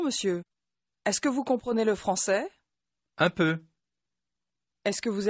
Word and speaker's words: le français: توجه کنید اگرچه میگویید le français، ل به آرامی تلفظ می شود. دوباره گوش کنید. Je comprends le français. Je comprends le français. ل به کلمه قبل از خود اضافه می شود.